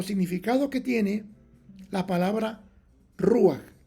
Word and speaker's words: ruaj: Dios en Génesis capítulo 1 verso 2 es ruaj r u a j ru con un acento como ese triángulo invertió